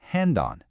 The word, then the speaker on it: Handan: The first one, pronounced Han. This gives us a sense of place. And the second is Dan. When you put them together, Handan, you get the name of